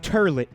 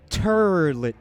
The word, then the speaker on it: toilet: New York accent okay the way that this dis man pronounced the word toilet was turlet turlet turlet toilet paper turn yes